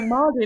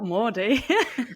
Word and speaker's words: mardy: No, Mardy, not Mordy.